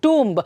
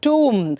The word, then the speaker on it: tomb: So though the spellings and the sounds are the same, the way you pronounce it is very different. So hagagi TOMB is not tomb or tomb, it is tomb. So tomb.